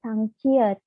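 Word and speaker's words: 쌍지읒: Setelah setelah double seperti ini berubah menjadi sangciet. Dibacanya C. Kalau yang tadi dibacanya kan J. Kalau ini berubah menjadi C.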